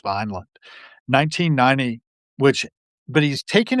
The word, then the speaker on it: Vineland: taken a Thomas Pynchon novel called Vineland, or Vinland, as I like to pronounce it, but I believe it's Vineland, 1990, which but he's